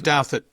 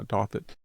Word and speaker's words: Douthat: Is that how you pronounce it? I say Douthat. Yeah, Douthat.